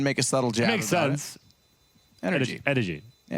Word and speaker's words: NRG: six to nothing for NRG yeah which is actually pronounced energy is it right the drink yes it is thanks we